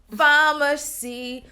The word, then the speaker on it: Famasi: I mean, hey, pharmacy. So, like, I like the spelling. It's like you're saying pharmacy, but it's spelled pharmacy. Like, exactly. Easy to pronounce.